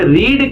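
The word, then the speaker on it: read: ऐसा है कि घुमाए आपके दिमाग को कि रीड की सेकंड फॉर्म भी स्पेलिंग सेम होती है और पढ़ा जाता है रेड।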